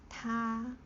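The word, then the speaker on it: 他: Like he, she, it, all the pronunciation is ta, but it's just the way we write it. If it's dan ren pang, ta, this one will means he or him.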